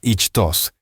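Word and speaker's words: ΙΧΘΥΣ: la palabra griega ichus yota cheta yilon Sigma pronunciada ichos es la palabra usada en el Nuevo Testamento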